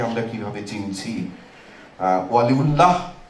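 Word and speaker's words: ওয়ালীউল্লাহ: বরং বোঝা যাবে ভেতরের সাড়া থেকে ওয়ালিউল্লাহকে আমরা কিভাবে চিনছি। ওয়ালিউল্লাহ হসন্ত ব্যবহার করতেন। অনেকে তো আমরা উচ্চারণটাও ঠিক করি না। ওয়ালিউল্লাহ ওই বাঙালিদের একটা ওকারান্ত উচ্চারণের প্রবণতা আছে। ফলে আমরা হসন্তটাকে অমিট করে দি।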